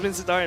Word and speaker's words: Min Seathar: Is that how you pronounce Min Seathar in Burmese? Yeah, Min Seathar.